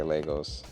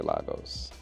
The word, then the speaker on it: Lagos: I say Lagos, some people say Lagos.